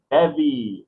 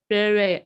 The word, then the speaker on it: bevy: In translation, a bevy of beauties. A berry of beauties.